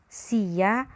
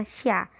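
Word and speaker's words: しゃ: Sia yang pertama yang belum yoong dibaca sia, siu, dan siyo. Oke? Sedangkan yang bawahnya menjadi sya atau SHA ya. SYA atau SHA sama bacanya sya. Sya, bukan sia tapi sya.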